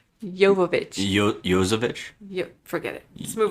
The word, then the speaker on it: Jovovich: There's no S in her name. Jovovich.